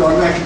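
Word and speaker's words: honest: ऑनेस्ट बॉय, ऑनेस्ट girl, honourable man, ऑनेस्ट मैन, इसमें भी एक साइलेंट है, इसको भी ऑनेस्ट बोलते हैं।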